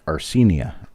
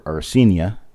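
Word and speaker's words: Arcenia: great great grandmother nope three greats grandmother named arsenia a-r-c-e-n-i-a while people knew her as ceni or arsenia and her name is spelled six or seven different ways on different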